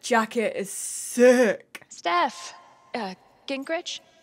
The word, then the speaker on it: Gingrich: is sick steph uh gingrich is that how you say it yeah that's right what kinds of radio